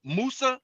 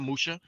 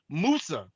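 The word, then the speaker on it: موسى: So, so Yakob is is how his name was pronounced during the time of his life. When we talk about Musa, not Musha, Musa, his name, his name is Musa.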